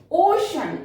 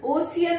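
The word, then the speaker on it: ocean: ओशन, ओशियन नहीं, CEAN को क्या प्रोनाउंस करेंगे? शॉप।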